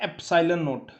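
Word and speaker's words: epsilon naught: इसको समझिए, इसको प्रोनाउंस करते हैं एप्सिलॉन नोट, EPSILON नोट।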